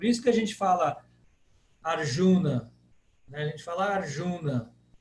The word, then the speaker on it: Arjuna: Na verdade é Arjuna. Arjuna. Primeiro A é fechado, o J tem como se fosse um Dzinho aí, e é proparoxítona. Arjuna. Arjuna. Mas nossa tendência no Brasil é falar Arjuna.